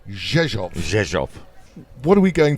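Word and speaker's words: Rzeszów: just read it cuz it starts with an R but you never hear the r and we've been reliably informed by locals that it's pronounced zov zov what are we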